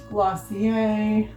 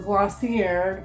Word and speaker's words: Glossier: Samples, Glossier, or Glossier, depending on how you want to pronounce it.